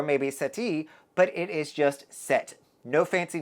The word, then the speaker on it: Sète: I wanted to pronounce it as Sete or maybe Sete, but it is just Sète.